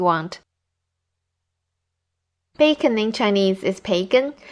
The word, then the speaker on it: 培根: Bacon in Chinese is 培根, which comes from the English pronunciation.